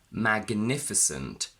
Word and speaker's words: magnificent: But when GN is in mid position, we say gn, magnificent, signal, signature, diagnosis.